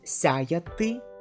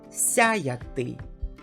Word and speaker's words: сяяти: the letter Ye, and in the word сяяти, there is a letter Ya, but here the second Ya is pronounced like A, which is vowel, and the second, which stands after the vowel, is pronounced like Ya.